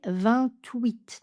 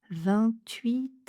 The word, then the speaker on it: vingt-huit: On va prononcer 28.